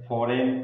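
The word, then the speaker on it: foreign: फॉरेन, फॉरेन में भी देखें तो जी और एन क्या है, साथ साथ में आए हैं तो यहाँ पर जी क्या हो जाएगा, साइलेंट हो जाएगा।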